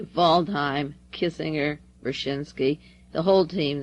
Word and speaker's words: Waldheim: from impossible mr voldheim another german not waldheim it's spelled that way voldheim kissinger vershinsky the whole